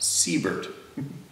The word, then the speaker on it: Siebert: a very small town called siebert pronounced seabird nailed it i love